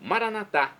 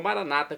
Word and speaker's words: Maranata: Agora do aramaico, Maranatá, como dizemos nós católicos, ou Maranata, como dizem nossos irmãos separados, os evangélicos ou protestantes.